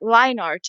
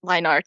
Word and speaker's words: line art: By the way, I just recently found out that line art is pronounced line art because before I had been pronouncing it linear.